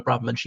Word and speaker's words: Braverman: I think Braverman's the correct pronunciation.